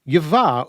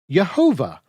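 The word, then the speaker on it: יהוה: And for Christian scholars who were unaware of how the Masoretes handled the name, they proceeded to mispronounce the name as Yehovah or Jehovah.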